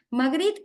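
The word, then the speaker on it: Magritte: de magd Harry torner se pronunciar magri no quería ni oír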